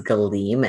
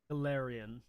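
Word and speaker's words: Golarion: Okay, hey, so since I've played Smash Bros, the only way I can read the name of this setting is Galeem, and I know that's wrong. Galarian.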